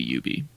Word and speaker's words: Ubi: I think both pronunciations are fine because it's short for ubiquitous software. Oh, well, there you go. So technically it should be Ubi.